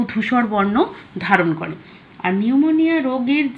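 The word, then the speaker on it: pneumoniae: অনেকে পিনিউমনি বলে, কিন্তু অ্যাকচুয়ালি এটা নিউমোনি।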